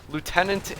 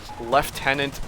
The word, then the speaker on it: lieutenant: Lieutenant in across the pond over in Northern America, lieutenant over in Britain. I don't know what you guys want me to say it. Naturally, for me, it's lieutenant, so I would go with that.